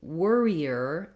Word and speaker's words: worrier: those multiple r's so worrier is just like worry in that it has the were syllable and that's stressed i'm going to build